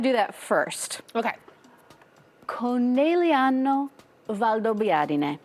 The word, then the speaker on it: Conegliano Valdobbiadene: Conegliano Valdobbiadene. So, Cone, Okay. Cone. Liano, Liano. Valdo, Valdo. Biadene. Biadene. Perfect.